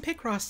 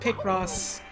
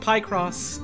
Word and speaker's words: Picross: oh he pronounces it pie cross uh because he knows that it makes me miserable he pronounces it wrong on purpose as a joke i can't read